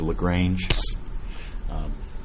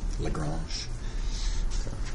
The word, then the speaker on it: Lagrange: a couple of them a lot of people mispronounce this as Lagrange French mathematician Lagrange even if you're from Texas or a ZZ